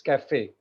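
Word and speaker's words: café: If you check cafe, CAFE, then in that cafe you will find one accent on E, and that's the reason Yes, we sir. call it cafe. It's not caf, it's cafe.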